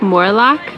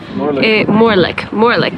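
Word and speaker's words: Morlich: However, Loch Morlock, Morlick, that's how you say it, is just at the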